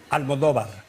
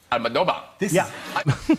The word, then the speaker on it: Almodóvar: So anyway, if you want to pronounce it like if you were Spanish, excuse me that I'm so long, then it is Pedro. Yes, you said that. Pedro. Pedro, yes. Almodóvar. Almodóvar.